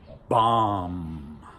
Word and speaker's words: bomb: Or a really kind of sad word, bomb. We don't pronounce the B, even if we add